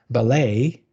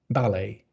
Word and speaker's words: ballet: Different syllable is stressed. For example, you have ballet and ballet.